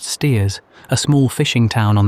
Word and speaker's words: Staithes: Saunderson, a shopkeeper at Staithes, always pronounced Steers, a small fishing town on the Yorkshire coast, about 9 miles to the northward of Whitby.